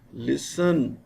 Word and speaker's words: listen: T is silent in fasten, listen, often, thistle, whistle.